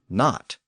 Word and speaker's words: knot: root as the word knot. And that silent K at the beginning of knit and knot was actually pronounced in Old English, and that's why it's still there in modern English.